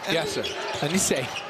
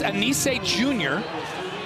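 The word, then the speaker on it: Anicet: Anise, that's his name. Yes, Anise. No, the T is silent. There's a T in it. Yes, T is silent. And we said, can we call him Anise?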